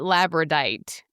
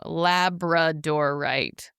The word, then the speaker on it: labradorite: I call it Labradite. Labradite. That's not That's not Is that how you say it? No. Labradorite. Labradorite.